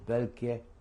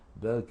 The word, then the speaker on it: Boelcke: We were sent to a German barracks, former German army barracks, called Welke Kaserne. If you want me to spell it for you, I can do that. Welke is, that's the name of the barracks, BOELCKE dash Kaserne, which means barracks, KASERNE.